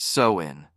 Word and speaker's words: Samhain: Halloween's origins can be traced back over 2,000 years to the ancient Celtic festival of Samhain, pronounced Samhain, celebrated primarily in what is now Ireland, the United Kingdom, and northern France.